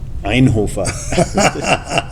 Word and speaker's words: Inhofer: Is Inhofer. That's how I should pronounce it.